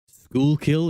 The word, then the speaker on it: Schuylkill: Schuylkill is how it's pronounced?